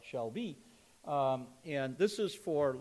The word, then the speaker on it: SHLB: the audience but um the uh shlb an unpronouncable acronyms they call it Shel be um and this is